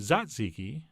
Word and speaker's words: tzatziki: cold yogurt sauce our tzatziki sauce would be perfect here although apparently i'm supposed to pronounce it zatziki but that feels awkward